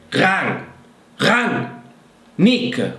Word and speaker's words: Rangnick: Ralf, primo nome, nome normale, e poi dite Ran. Nick, come Nick Radonia, che saluto in questo video, ragazzi. Un nome, Nick. È facile, no? Ran e Nick.